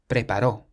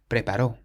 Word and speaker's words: preparó: But then the next word has an accent on the O on the end, preparó. This means he prepared, preparó.